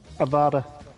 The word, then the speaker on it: Avada: there isn't it but it's the way it's pronounced Avada I thought it was pronounced or however he